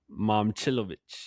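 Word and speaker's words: Momčilović: It's not Malika. No, it's Momchilovich. Yeah, Momchilovich. Momchilovich.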